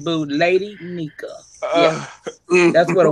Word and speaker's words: Nyca: Lady Nyca.